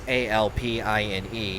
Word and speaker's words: Alpine: I pronounce it Alpine because that's how you pronounce A-L-P-I-N-E here in the States at least, but I hear it's pronounced Alpine, A-L-P-E-E-N, which is kind of funny, not gonna lie.